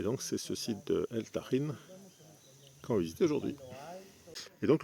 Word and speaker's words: El Tajín: sur le site de Elin qu'on peut prononcer elagine si on prononce pas le J à la mode espagnool et Elin c'est une